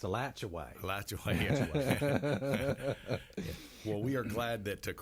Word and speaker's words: Alachua: Yeah, because it's pronounced Alachua.